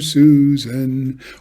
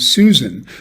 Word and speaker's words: Susan: So in the first version here with Susan, the first syllable of the name is stressed, and it goes on